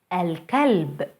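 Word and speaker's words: الكلب: letter alma the water alcalbe alcalde the dog el wered el word the flowers notice how moon letters allow the l to be pronounced fully i hope this was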